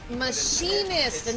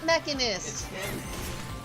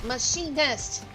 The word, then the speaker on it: Machinist: Machinist, not mechanist. M A C H I N I S T. Machinist.